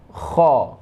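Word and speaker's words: خ: Masih tenggorokan di tempat yang sama keluarnya, itu kha. Ya, tenggorokan atas ya, adna paling atas. Itu kha, cara bacanya bunyinya kha khi khu bakh khu khan khani khakhna minal mukhni makhi khan khani kha. Nah, dia itu agak getar ya.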